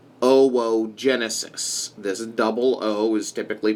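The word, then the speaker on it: oogenesis: case OVA or eggs this process is called oh whoa Genesis this double-o is typically pronounced oh whoa second transportation of the OVA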